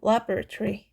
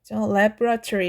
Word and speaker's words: laboratory: 그 발음을 하게 되면 이 O 사운드가 거의 나지 않아요. laboratory, laboratory 이렇게 되는 참고하시고 발음을.